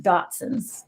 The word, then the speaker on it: Dotson's: Dots Adventures. My wife always tells me I say it wrong. You just add the whole name, Dotson's.